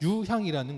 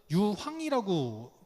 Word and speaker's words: 유향: 겁니다 그래서 가끔씩 보면 유향에 익숙하지 않은 사람들은 유황이라고 발음하는 경우들이 종종 있더라고요 근데 유황은 아닙니다 유학은 아시죠 유황은 독소가